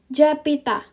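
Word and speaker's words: 잡히다: dia enggak ada ini Nah karena B bertemu h ini berubah menjadi p dda p oke nah sama dengan ini kan kalau kita bacakan Jab Hi Da tapi kan H enggak kita baca ya Nah b-nya kita ubah jadi P japita Oke japita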